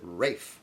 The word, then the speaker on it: Ralph: Looks like Ralph, but he pronounces it Rafe. Ralph Fiennes.